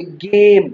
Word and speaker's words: game: जैसे यहाँ पे game, तो E silent है।